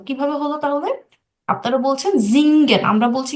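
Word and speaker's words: singen: তো আপনারা চিনেন জিংক মানে কি বলেন তো জিঙ্গেন জিঙ্গেন মানে কি বলেন জিন আচ্ছা আপু জিঙ্গেন মানে সিঙ্গেন গান করা গান করা তাহলে এটা সিঙ্গেন হলো না কেন বলেন তো এটার উচ্চারণটা জিঙ্গেন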